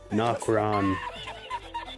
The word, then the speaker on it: Nokron: Nokron.